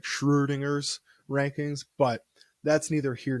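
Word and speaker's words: Schrödinger: work it's uh like Schrodinger's rankings and I think I pronounced that wrong because he's Austrian and a vet oh that umladed o is kind of like a ooh sounds like Schrodinger's rankings but that's neither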